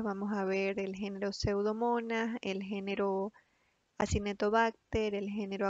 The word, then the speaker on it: Pseudomonas: como lo ven ahí se escribe pseudomonas con s al final no es pseudo mundo porque es una le pongo pseudo mundano el nombre correcto es pseudomonas su taxonomía esta bacteria